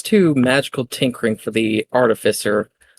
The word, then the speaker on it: artificer: H because with Artisifer, yes, I know it's artificer. I'm saying it wrong for the bit.